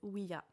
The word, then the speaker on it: Ouija: En fait, on devrait prononcer Ouija.